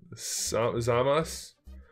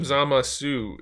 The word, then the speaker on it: Zamasu: Dragon Ball super called zamas but they call him zamasu in the dub version and I don't like that CU that's not that's not right you don't pronounce the U part it's not like terribly